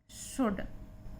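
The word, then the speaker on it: should: नॉट the best option है वह test कि शोल्डर यहां पर l के बाद भी आ रहा है तो L साइलेंट है तो इट यह कहता है या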